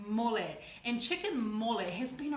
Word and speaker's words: mole: It's called chicken mole, spelt as in mole, as in the mole that goes down underground, but pronounced mole.